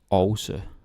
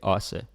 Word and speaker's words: også: Actually, this word også, the very official pronunciation is også. Don't say that, just say også.